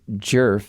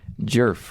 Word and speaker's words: Djerf: But in doing the research for this case I learned that that D is silent. It's jerf. Not a lot of vowels. No, she's got the one jerf.